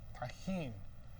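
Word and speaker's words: Tajín: this is how do you say it tahen tahen don't eat this by itself I took a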